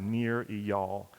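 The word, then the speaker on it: Nir Eyal: to it it's a book called indestructible by near y'all it's his last name is spelled e-y-a-l his first name is n-i-r and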